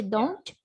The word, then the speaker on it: don't: negative part at a don't or doesn't yes and in fact i would like to tell you that a native person normally says don and dozen native people normally don't pronounce the t if you wanted to